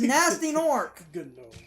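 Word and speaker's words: Gnasty Gnorc: nasty as an insult it's like the word gnome genome no that's how it's spelled he is nasty Nork they call him gun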